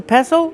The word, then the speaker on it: pestle: The T is silent. Don't pronounce the T.